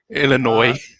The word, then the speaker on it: Illinois: Who the F pronounces the S in Illinois? Illinois.